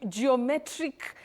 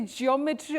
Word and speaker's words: geometric: But you say go Jio that at the onset that is at the beginning we have that line go not jo because many people innocently say geometry like in schools or in learning institutions but we have that glide go geometry not geometry so geometric not geometric okay geometric it